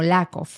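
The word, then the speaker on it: Yaakov: común entre los hebreos Jacob en hebreo es más bien pronunciado como lacov pero en latín el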